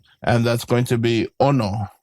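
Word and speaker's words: ʻono: So, this one has a okina at the beginning of the word and it's just like a um an accent. So, when you say the word, you're going to have kind of stress the the o. So, you're going to go ono.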